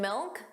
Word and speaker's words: milk: And milk sounded like milk. So did you hear that? The final K sound, that C was not pronounced. It was just a milk. Milk. So you put your your tongue in the position of a K. Milk. But you just don't push out that sound.